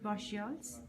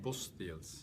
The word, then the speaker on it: Bosteels: I'm here with Patrick Bosteels. Am I pronouncing your name right? Bosteels. Bosteels.